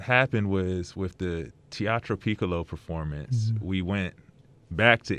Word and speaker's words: Piccolo: So let's get to, I guess, talking about you said you performed in Italy, and there was a Teatro Piccolo and am I pronouncing that correctly?